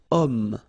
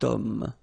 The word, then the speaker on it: homme: Remember, H is not pronounced, okay? So you've got the sound of O at the beginning of this word, okay? Cet homme, so that's the reason why you will have to use the cet.